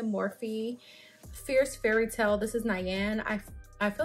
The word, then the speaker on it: Nyane: This is Nyane. I feel like that's how we say her name. It's Nyane.